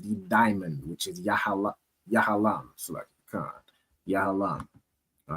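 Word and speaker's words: יהלום: And their stone is a diamond which is pronounced in the Hebrew as yahalam.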